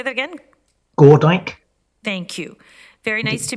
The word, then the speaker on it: Gordyke: sorry, it's pronounced Gordyke. Can you say that again? Gordyke.